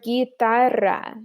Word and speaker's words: guitarra: to sound like gi, we need a GUI, like the word guitarra. That U is going to make that G maintain its hard G sound.